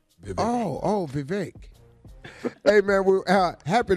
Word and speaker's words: Vivek: Vivek Murthy is it Vivek did I get that right you're close it's Vivek it's like it rhymes with League oh oh Vivek hey man we're out